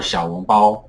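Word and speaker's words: 小笼包: But I personally hate that word because I feel like it should be pronounced, it's short for 小笼包, which is the correct way to pronounce it.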